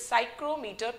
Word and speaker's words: psychrometer: This is psychrometer, P is silent over here.